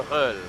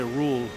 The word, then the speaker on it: Röhrl: How do you say it? Walter Röhrl. Oh, I was gonna say Rule, Walter Rule. Well, the thing is that he has what they call an umlaut, is the two dots on the top